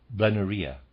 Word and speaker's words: blennorrhea: That is, milk injections to treat blennorrhea. Readers aside, blennorrhea is spelled Blennorrhoa. Blennorrhea. I'm reading it sort of like diarrhea.